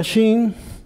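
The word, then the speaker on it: שׁ: Y luego tengo la letra Shin, y yo sé que se pronuncia Shin porque en la rama de la derecha hay un puntito arriba. Si el puntito estuviera aquí en la rama de la izquierda, ya no sería Shin, sería S. Pero es Shin.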